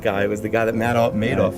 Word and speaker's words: Madoff: But the Madoff guy was the guy that Madoff. I think it's Madoff is how you say it. Madoff. He made off with billions.